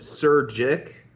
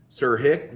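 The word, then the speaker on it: Surjik: The director is Stephen Sir Jick, Sir Hick, whatever it is. Jay is silent.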